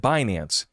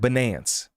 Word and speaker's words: Binance: Yellen calling it bonance instead of calling it binance she was calling it bonance right she was missing the ey bonance and that was my favorite part of the